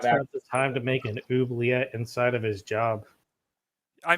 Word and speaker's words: oubliette: Oblique? Oubliette.